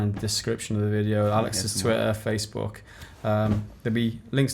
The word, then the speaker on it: Alx: But my name, it is Alex. Like, people call me pronounce Alx.